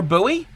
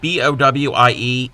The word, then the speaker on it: Bowie: a like a postal code and yes we pronounce the word b o w i e buoy when it comes to the the town and